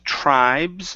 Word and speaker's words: tribes: okay very good uh next up is tribes make sure to pronounce this S at the very end okay so yeah the